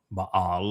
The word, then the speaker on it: Baal: You see, I had always considered Baal, Baal, as it's sometimes pronounced, which is Lord and Master, but also